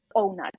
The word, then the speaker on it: O-Nut: Another thing is, if depth of penetration is painful for you, using something such as O-Nut. It's OH N-U-T, literally how it's spelled.